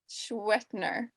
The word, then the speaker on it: Schwendtner: It's got like 5 consonants in the middle that like you really don't need, I don't think.